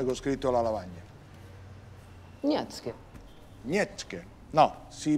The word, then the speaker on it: Nietzsche: Nietzsche. Nietzsche? No, si pronuncia... Friedrich Nietzsche.